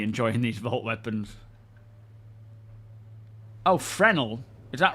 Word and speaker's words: Fresnel: Oh, I didn't know it's silent.